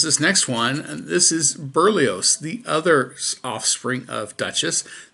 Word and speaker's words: Berlioz: I can at least pronounce this next one. This is Berlioz, the other offspring of Duchess.